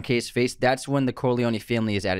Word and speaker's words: Corleone: So when they're talking about Italy, the town Corleone, but then the family is called the Corleones. And it's, the American pronunciation is Corleone. And this is the Italian is Corleone.